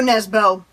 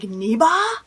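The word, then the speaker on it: Nesbø: if you're like me i assumed it was joe nesbo no not even close i don't actually remember off the top of my head how it's pronounced um but i think it's something like neba like if not even close to what you would assume as an english speaking person it would be i found these videos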